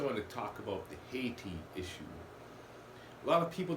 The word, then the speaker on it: Haiti: First, I want to talk about the Haiti issue. A lot of people don't realize Haitians, which when some Haitians pronounce the word Haiti or Haitian, it sounds like Asian.